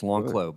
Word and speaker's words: Lanclos: Actually, the S is silent, so it's Lanclos.